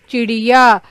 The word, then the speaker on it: चिड़िया: चिड़िया में आप कहाँ देख रहे हैं, अड़, च के बाद, है ना, चिड़िया। यानी कि ड के नीचे अगर बिंदी लग जाए तो उसका उच्चारण हम क्या करते हैं, ड़।